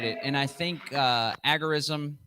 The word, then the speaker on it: agorism: and i think uh agarism some people say agorism i think that's actually the appropriate proper way to say it but i'm a rebel